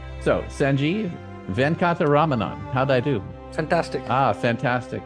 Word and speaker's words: Sanjeev Venkataramanan: And the first thing I have to do is make sure I try to get his name pronounced correctly. So, Sanjeev Venkataramanan.